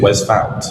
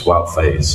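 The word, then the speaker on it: Wout Faes: You said Wes Fount. Yeah. It's Wout Faze. Wout Faze. It's the other way around.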